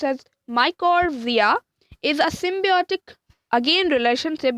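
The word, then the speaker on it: mycorrhiza: r h i z a so it's namely pronounced as my chord via is a symbiotic again relationship between a fungus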